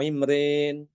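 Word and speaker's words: عمران: Kata Imran ya. Imran dibacanya Imrin di surat Ali Imran. Imrin gitu ya.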